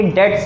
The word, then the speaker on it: debts: अब इसको DEBTS को कुछ लोग डेप्ट्स पढ़ते हैं, लेकिन ये डेट्स है, DETS ऐसा पढ़ा जाता है, इसमें भी बी साइलेंट है, ठीक है।